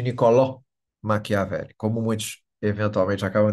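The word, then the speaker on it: Niccolò: nome é pronunciado incorretamente no italiano nós vemos o nome Nicolo em vez de nicoló machiavel como muitos eventualmente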